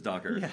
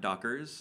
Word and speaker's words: Docker: Dockers versus Docker. Yeah. Yeah. And by the way, the correct way to say it is Docker, not Dockers.